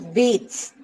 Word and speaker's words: Vedas: For example, the Vedas, and pronounced as Veds, and they are the Hindu religious books.